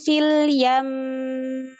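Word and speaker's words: فِي الْيَمِّ: Harusnya fanabadnahum fil yam. Sempurnakan gunanya. Fil yam. Ia nggak menahan si gunnah.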